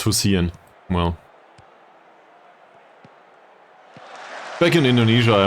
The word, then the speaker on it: Hussein: It's Hussein. Well. Back in Indonesia I mispronounced Imbiri for like half a season, so...